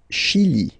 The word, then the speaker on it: Chili: Le Chili, le Chili. Okay, remember, CH, sh, okay, Chili, le Chili.